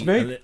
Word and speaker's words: Moog: We've said Moog for a long time, but with the advent of the internet, we found out how it was really supposed to be I have to pronounced. hold my hands up and say that for many years it was just Moog for me. It's Moog. Mini until Moog.